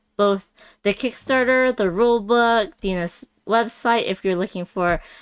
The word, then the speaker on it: Dina: Oh my gosh, is it Dina or Dana? Dina. It's Dina.